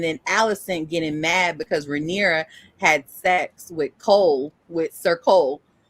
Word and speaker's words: Rhaenyra: Rhaenyra. Thank you. Rhaenyra. Welcome. How you're saying Rhaenyra's dad. And so Rhaenyra felt some kind of way about that. And then Allison getting mad because Rhaenyra had sex with Sir Cole, and finding out